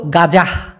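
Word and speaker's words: gajah: পারি আচ্ছা এবার হলো গাজাহ গাজা বাংলা ভাষায় তো আছে না কিন্তু ওটা তো একটা বিটগুট জিনিস কিন্তু গাজাহ এটা উচ্চারণ হবে গাঁজাহ এই গাঁজা শব্দের অর্থ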